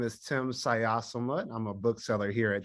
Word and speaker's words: Xayasomloth: to everybody hi everybody my name is tim sayasamut i'm a bookseller here at changing hands and